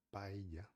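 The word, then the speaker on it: paella: Olha aqui, paia, tá escrito com 2 L, tá bom? Que a gente conhece como ID, tá bom? Aí o som é de paia, porém dependendo da região, provavelmente você escute de outras formas, tá bom?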